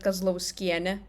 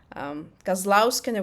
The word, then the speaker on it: Kazlauskienė: You said Kazlauskienė, and that sounded very Samogitian to me, the Žemaitija, the northwest part. Kazlauskienė would be the standard.